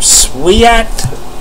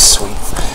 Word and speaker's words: Sweet: And we've got a Calder Contenders rookie for the Vancouver Canucks, Bill Sweet, or Sweat, however you want to pronounce it. Sweat, I've heard. I pronounce it as Sweet.